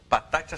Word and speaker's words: Patati: Conosco também, recebendo aqui no Virando o Jogo com muita satisfação, a Caroline Patati. Acertei a pronúncia do teu sobrenome? Acertou.